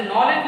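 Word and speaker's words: knowledge: जैसे नॉलेज लिखते हैं, नॉलेज के से शुरू करते हैं, तो वहां भी के का उच्चारण नहीं करते हैं, ये भी साइलेंट रहेगा, क्लियर।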